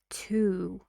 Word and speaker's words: to: did you notice that normally we say this word like two to see but we have it in a sentence and after it we see a word so it's not stressed not stressed we need to say it fast and quieter we say to see to see not two c to C and foreign films for